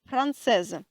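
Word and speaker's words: française: озвучити приголосну крайню приголосну Як ви знаєте з минулого уроку якщо літера с приголосна S з обох боків оточена голосними вона буде вимовлятися як з франсези франсеза переходимо до конкретних прикладів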